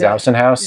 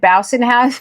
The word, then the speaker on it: Zassenhaus: What did you use to pronounce it? Zassenhaus. Zassenhaus. I think you said Bausenhaus.